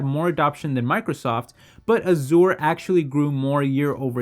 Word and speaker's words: Azure: But moving over to their cloud platform called Microsoft Azure, which I think it's actually pronounced Azure, but I prefer saying Azure just because it sounds a little bit better, but they've been seeing tremendous progress in gaining market share there.